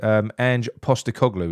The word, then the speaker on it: Ange Postecoglou: Down Under, who's, I'm going to try and pronounce this, Ange Postecoglou.